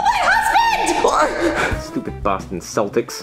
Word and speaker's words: Celtics: my husband stupid Boston Celtics you didn't even say your name right it's pronounced Celtics and your mascot's a